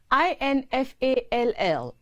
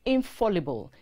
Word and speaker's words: infallible: or to lose balance and collapse or crumble i-n-f-a-l-l-i-b-l-e is not infallible it is infallible and means never failing incapable